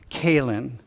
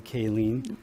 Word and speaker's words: Kayleen: Kaylin. And it's spelled lean, L-E-E-N. So you know that even though I'm sitting here, right here, going, okay, remember Kaylin, I know I'm going to call you Kayleen.